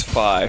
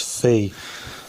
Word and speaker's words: Fi: Yeah, I always pronounced that as Fee because I Phi.